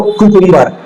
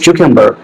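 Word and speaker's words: cucumber: अगर हम बात करें प्रोनाउंसिएशन की, जैसे लोग कहते हैं खीरा या ककड़ी को कुकुम्बर, इट्स नॉट कुकुम्बर, इट्स क्यूकम्बर।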